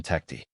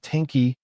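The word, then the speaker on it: Tounekti: Because let's talk about Sebastian Tecti, or as we now officially know, Sebastian Tecti. No more mispronunciations, no more Tenki or Tanky.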